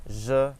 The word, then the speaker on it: je: So we have J, like in mirage, or garage is another example. In French, we use the same sound, and this is how the J is pronounced, as well as the G when it comes before an E or an I. So it's the same sound. So we say je and page, je and page.